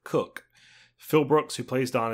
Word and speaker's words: Cook: And at one point, in the film, the main character's name, Don Cook, is mispronounced Coke instead of Cook.